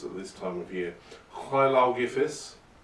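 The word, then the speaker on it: Lleu Llaw Gyffes: Hlaugifis, to pronounce it correctly, but Lugh, as he's known by most people who don't speak Welsh, he is the eponymous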